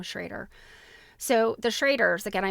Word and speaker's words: Schrader: It's Schrader. They pronounce their name Schrader.